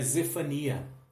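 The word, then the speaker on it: צפניה: diz o fone as lá no hebraico a gente tem uma pronúncia um pouco diferente seria Z Fania né que significa o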